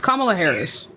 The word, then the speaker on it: Kamala Harris: Yes, it's Kamala Harris.